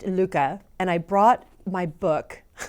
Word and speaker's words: Lykke: video, I'm going to give you a rundown and a review on the Lykke needles, and it is actually pronounced Lykke, and I brought my book by Mike Viking.